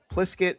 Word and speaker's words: Pliskett: Pliskett is also on UCD's rugby team. And in her pronunciation guide, it's pronounced like biscuit, just with a PL at the beginning.